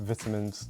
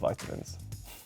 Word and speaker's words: vitamins: Yes, we pronounce it vitamins, not vitamins.